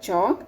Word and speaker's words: chalk: Again chalk, L is silent here.